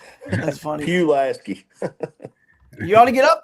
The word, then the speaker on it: Pulaski: How do you pronounce Pulaski? P-U Lasky. That's funny. Pulaski.